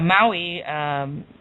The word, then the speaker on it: Maui: my wii and i'm sure they have a maui other widely known as those okay they're beautiful